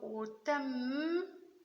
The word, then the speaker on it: autumn: Yes, it's autumn. Remember autumn, but there's a silent N.